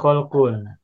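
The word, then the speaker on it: خَلْق: Ini ada kata huruf-hurufnya sama, tapi bacanya beda ini. Ada khulukun, ada kholkun.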